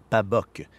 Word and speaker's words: pabog: Mais la plus plausible serait que le nom vient d'un mot micmac, une déformation de pabog, qui se prononce pabok, et qui signifie nappe d'eau au mouvement peu sensible.